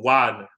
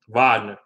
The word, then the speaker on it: Wagner: Pound the ball inside with Wagner or Wagner. That's how you pronounce it in German. Wagner.